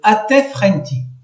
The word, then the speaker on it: Atef-Renti: Le numéro 13 se prononce Atef-Renti, le sycomore supérieur, capitale Lycopolis.